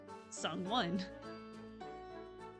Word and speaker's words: Sungwon: I sang, I have sung. The past tense of win is won. Sungwon.